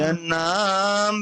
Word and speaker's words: यन्नाम: आपन्न संस्थितिं घोरा आपन्नः संसृतिं घोराम् यन्नाम विवसो गृह्णन् थोड़ा ततः सा सद्यो थोड़ा सा विमुच्य उच्चारण में मिस्टेक है। देखिए, नाम के बाद हलंत नहीं प्रभु जी। यन नाम, थोड़ा से बोलिए।